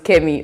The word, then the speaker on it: Kemi: And I was like, I pronounce it properly. Well, my name is Kemi Omorogbe.